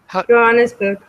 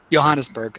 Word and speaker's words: Johannesburg: Am I pronouncing it right? Is it Johannesburg or Johannesburg? Johannesburg. Johannesburg.